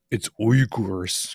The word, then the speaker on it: Uyghurs: Uyghurs? It's Uyghurs. Gotta say it properly. I'm gonna say Uyghurs, like every other American.